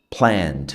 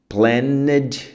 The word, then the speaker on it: planned: Planed não. Planed não. Aqui não fala o e tá.